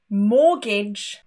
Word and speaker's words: mortgage: But there are some random words too that also have a silent T. Most commonly, asthma, Christmas, mortgage, and often.